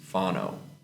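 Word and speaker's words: whānau: family based so family the word for family is fono but it's spelled um w h a n Au U Pho so in there in the language the the the letters w and H make an F sound so it's like pho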